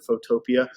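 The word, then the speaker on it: Photopea: with photo p photopia i think they want you to pronounce it photopia if you go to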